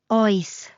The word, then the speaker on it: Oes: Oes. Like a friendly detective checking the fridge at midnight. When in doubt, make your choice. Just ask out loud. Oes. It even rhymes with choice.